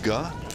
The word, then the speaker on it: Ge: It's spelled G-E, but we have confirmed that it's pronounced Guh.